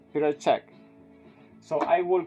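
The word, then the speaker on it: Petr Čech: players okay okay but this is Peter Che okay or whatever is pronounced Peter check so I will call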